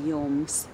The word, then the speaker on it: jums: Lai jums jauka nedēļas nogale. Probably you noticed that the second word is not stressed.